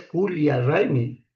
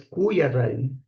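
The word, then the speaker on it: Coya Raymi: Escribirán cuya con y, ¿no? Algunos están escribiendo así y he visto en las redes sociales donde se escribe cualquier cosa, están escribiendo así con con doble l, no es culia ry, sino es cuya rai.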